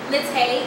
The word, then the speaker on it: Naté: Natay, NATE, @.